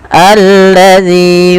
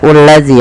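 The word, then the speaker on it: الذي: ini bagaimana cara membacanya ini bukan dibaca Uladzi ya teman-teman. Tapi kita bacanya ketika ada hamzah atau alif di awal bacaan dan tanda seperti ini kita baca dengan a ya.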